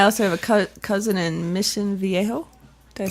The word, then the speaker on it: Mission Viejo: And I also have a cousin in Mission Viejo. Did I say that one right? Yeah. Good pronunciation.